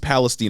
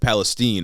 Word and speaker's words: Palestine: we gotta visit East Palestine Ohio and I heard that it's uh pronounced Palestine instead of Palestine I I guess so